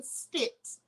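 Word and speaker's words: Stitt: previously worked with oklahoma's governor kevin stix rhyming with spitz no less to hold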